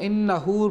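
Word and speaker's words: إِنَّهُ: এই লাইনের শুরুতে লামের উপরে মিমের উপরে তাসদিদ রয়েছে, আবার শেষ শব্দের মধ্যে ইন্নাহু নুনের উপরে তাসদিদ রয়েছে, সেখানে একালিফ পরিমাণ গুণনা করতে হবে, এবং ইন্নাহুর পরে যে হা রয়েছে সেখানে একালিফ টান হবে।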